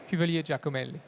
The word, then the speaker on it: Cuvellier Giacomelli: Cuvellier Giacomelli? Not bad at all. Go on, how do you say it properly? Cuvellier Giacomelli. Okay, he does it better than me.